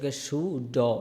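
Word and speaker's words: should: miss সুড সুড সুড এ শব্দটার মাঝখানে এল আছে এল কিন্তু এল এর কোন উচ্চারণ হবে না উচ্চারণটা হবে তালিবা সরস সুড সুড ব্যাস সুড আমার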